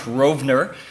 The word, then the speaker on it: Rovner: that I employed Josh, I mispronounced his name for 2 years in a row, which Josh, it's a long overdue apology, but it's Josh Rovner.